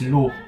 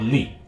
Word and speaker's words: lu: confirmed that in Hong the pronunciation for the word u is L not Lee this adds weight to